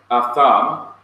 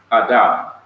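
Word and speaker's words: אָדָם: Then there is the word atham, what modern Hebrews pronounce as adam.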